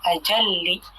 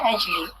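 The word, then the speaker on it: أجلّ: Jika dia adalah bentuk isim tafdhil, maka kita membacanya ajalli, bukannya ajli. Min ajalli.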